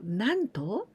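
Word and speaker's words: 何と: And also with this consonant T sound と for example なんと but we never say 何と so なんと and also てなんて What did you say?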